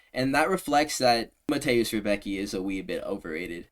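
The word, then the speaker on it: Rębecki: He be calling him like Roundbesky. Like, he's saying the dumbest pronunciation of Mateusz Rebecki's name. I'm just going to say Rebecki because that's how it's spelled there. I think there's even an accent somewhere over like the C or the E or something.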